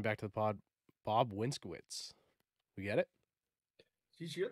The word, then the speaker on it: Winskowicz: sweet uh welcoming back to the pod bob winskwitz we get it geez you're the only guys